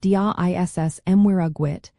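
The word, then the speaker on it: Dia is Muire duit: If someone says Dia Dhuit to you, the proper response is Dia is Muir Dhuit, pronounced Dia Iss Mwira Dhuit, which means God and Mary to you.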